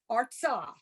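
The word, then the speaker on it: ארצה: When you've got the two dots in the under a letter in the sort of middle of the word, we come to a dead stop without pronouncing it.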